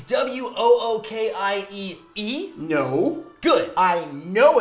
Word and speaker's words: Wookiee: Well, you spelled Wookiee wrong.